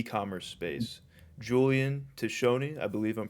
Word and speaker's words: Tiscione: Julian Tishoni, I believe I'm pronouncing that right.